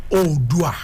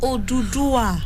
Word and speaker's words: Oodua: The real pronunciation is Odua. Okay, it's not Odudua.